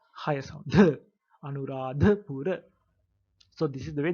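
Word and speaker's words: අනුරාධපුර: So you can call it Anuradhapura. Anuradhapura. There you have to pronounce the as the. It is not the, so you have to higher sound, the Anuradhapura.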